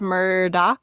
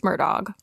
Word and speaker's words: Murdaugh: about the murdog family we've had a debate on how to say the name if it's Muro versus murdog and we've decided it's murdog I've listened to a